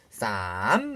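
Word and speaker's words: สาม: 이 앞에다가 숫자만 넣어주면 예를 들어 우리 3이라는 단어는 숫자는 한글 발음하고 똑같아요. 하지만 길게 사성으로 쌈 하시면 되거든요.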